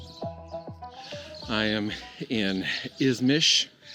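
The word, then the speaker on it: İzmir: I am in Ismish. It's spelled as our English would have it ismir, but they pronounce it ismish.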